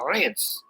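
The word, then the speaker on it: Reims: It sound the way they pronounce it is Rance.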